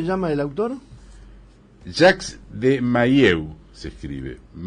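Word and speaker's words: Mahieu: interesa cómo se llama el autor Ja de maieu se escribe m a h i e u yo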